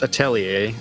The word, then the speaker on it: Atelier: into the marathon with Atelier Ryza, pronounced Atelier. As far as I'm aware, there's some slightly weird pronunciations of this word.